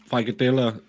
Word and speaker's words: frikadeller: Frikadella rhymes with killer.